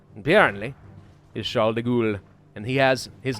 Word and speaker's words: Charles de Gaulle: I thought it was Charles de Gaulle. You know, Charles of Gaul, which was France, right? But the pronunciation, apparently, is Charles de Gaulle.